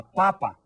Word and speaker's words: papa: did you say la Papa remember you stress that first syllable to say that it's a potato and if you stress the second syllable you're saying that it's your father okay how about this